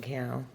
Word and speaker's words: Cannell: So yeah, I signed up with YouTube, with Sean Cannell. Rhymes with YouTube channel.